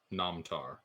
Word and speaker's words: Namtar: Namtar. It's spelled like Amtar, but with an N at the front.